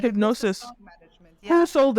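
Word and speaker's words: Hipgnosis: Well, it's spelled in a weird way, but Hypnosis.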